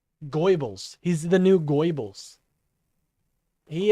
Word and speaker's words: Goebbels: Benny and Tim are the new Goipels. Benny and Tim are the new fucking Goipels, you know? I think that's how you say his name. Goebbels.